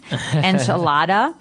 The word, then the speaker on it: enchilada: And just a warning, you're going to hear me say the American pronunciation, enchilada, and you're going to hear Marco say a more appropriate.